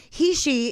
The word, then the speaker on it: Heche: b or q um my name has always been mispronounced it and it only took me until this year to understand he she is exactly what i would like to be he she i'm an heishi we